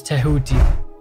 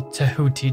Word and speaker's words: Tehuti: the Egyptian language then his name is tehodi which is also written slightly different starting with a d and pronounced slightly different but all in all tehoti does just fine which is funny because